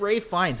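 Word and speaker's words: Ralph Fiennes: wait it's right yeah it's pronounced it's pronounced Rey yeah it's it's yeah it's weird like he goes by Ray fines not Ralph um but yeah no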